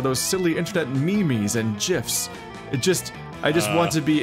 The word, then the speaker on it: GIF: silly internet memes and gifs. I just want to be able to make him smile, too. First lesson, it's pronounced memes and gif with a hard G.